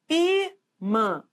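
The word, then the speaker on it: ímã: que manda na palavra Então qual é a sílaba tônica de imã é só você pronunciar ó imã não é assim então o i é forte então é uma paroxítona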